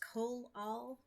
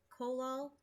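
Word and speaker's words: Collall: time I'm trying this I believe it's pronounced colol colol c o l l a l l glue um I've seen Sam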